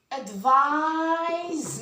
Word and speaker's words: advise: So the verb is used with S and it's pronounced as Z, and the noun is written with C and pronounced as S.